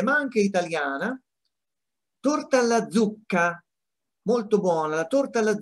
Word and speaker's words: zucca: Torta alla zucca, molto buona. La torta alla zucca, come vedete qui, is a very good dessert. Make sure you pronounce the double C for pumpkin in Italian.